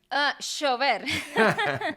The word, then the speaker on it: llover: En Argentina la doble L es casi como si fuera la SH sí, del inglés, ¿no? Como sí, she, como ujú.